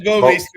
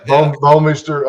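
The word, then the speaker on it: Bouwmeester: And then now these days with kickers and, Bomeister, is that how you pronounce his name? It's Bomeister, yeah. Bomeister.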